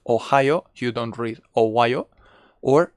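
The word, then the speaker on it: おはよう: is not pronounced like ohio it's not ohio it's ohio we make it long okay so we have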